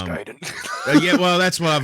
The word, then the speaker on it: Gaiden: Um, another one was Ninja Gaiden or Gayen, what whatever, however you pronounce it. I've always said Giden. Um, it's Giden.